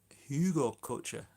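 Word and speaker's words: Hugelkultur: By I would say April, May time, they should be good to start planting into, and then they'll work as a hugel culture.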